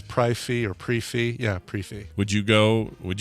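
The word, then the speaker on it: prix fixe: okay yeah all right and the and the pronunciation is uh pre fee oh brief the prixy fix is pronounced pre-fee pre-fee okay i will buy that i'd buy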